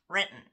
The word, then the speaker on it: Renton: First off, Renton natives pronounce it Renton.